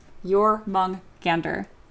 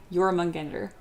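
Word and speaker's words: Jörmungandr: Yor Mongander. Yorander. Well, I see. I immediately immediately can't say it. Your mongander. There's It's the two G's back to back are very difficult to say.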